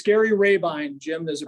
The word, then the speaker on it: Rabine: um it's it's Gary rabine Jim there's a pronunciation and I mean that's why I'm saying it's Ravine time so people remember that better but uh most people